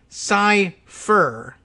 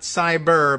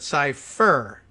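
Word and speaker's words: Cyfir: founder of digital company psy fur not cyber but cypher f i r and for whatever reason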